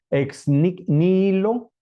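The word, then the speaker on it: ex nihilo: creación de la nada ex níquel con una H donde suena exilo ex níquel se dice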